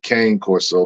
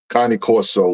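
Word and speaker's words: Cane Corso: had a cone cor Corso some people say Kane Corso but it's the it's pronounced Connie Connie Coro which is a big huge dog that you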